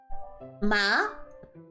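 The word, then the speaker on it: 麻: so the second one Ma you have to make sure your tone is going up okay okay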